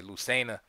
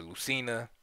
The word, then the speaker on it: Lucena: from the composer Lena some people say Lucena but uh or Lucina you know it depends on where you're from I guess and um or how serious you take pronouncing these um names correctly but um this is the